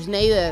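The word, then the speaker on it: Schneider: Grande tipo Ah sneider sneider es así se pronuncia dan dan sneider Ah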